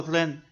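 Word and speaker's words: 人: El primer carácter pronunciado ren en mandarín moderno significa persona y procede del dibujo de un perfil humano.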